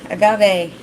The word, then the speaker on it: agave: hard with it yeah you got it right agave I learned a new word I learned how to pronounce an old word I've seen it in